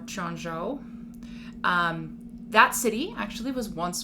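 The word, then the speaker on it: Quanzhou: i'm pronouncing that correctly but i have heard that you pronounce cues with that cha sound instead so it is spelled q-u-a-n-z-h-o-u so that's why i'm pronouncing it chon zhao or chongzhou that city actually was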